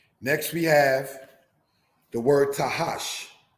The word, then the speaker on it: Tahash: Next we have the word Tahash, pronounced, brothers and sisters, as Takash, because again, this letter Ket making its strong KH-like sound.